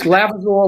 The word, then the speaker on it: Lavizzo: Did I pronounce that right? That's correct. Thank Are you you. sure? Correct me. It's Lavizzo Lavizzo.